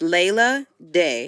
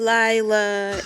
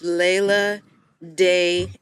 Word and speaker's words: Leila Dey: wrong, and you gotta, So it's Leila Day. Leila Okay. Day. It's not Leila. It's not Leila. It's not Lila. It's Leila Day, and Day is with an E, D-E-Y.